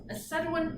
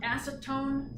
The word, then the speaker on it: acetoin: Acetoin is not acetone, spelled funny and pronounced funny. It's not acetone. It's acetoin.